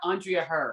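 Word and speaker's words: Andria Herr: Yeah, it's Andrea Her.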